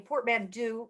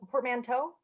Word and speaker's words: portmanteau: raskin's name is a portmandu portmanteau that's how you say it of my maiden and